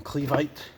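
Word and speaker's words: Clevite: these as well from cleave aight that's how you pronounce it I got this here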